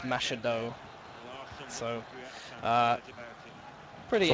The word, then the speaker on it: Machado: It says Macados, but it's pronounced Machado.